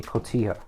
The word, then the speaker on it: cotija: The ones that we're using is a white cheddar and a cotija, right? I think that's how you say it, cotija.